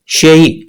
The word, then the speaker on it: 谁: बहुत सारे चाइनीज इसको शेई पढ़ते हैं और बहुत सारे चाइनीज इसको शुई कहते हैं।